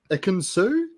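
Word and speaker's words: Ekin-Su: But then we get a confessional, guys, from a very special lady, Ikinsu?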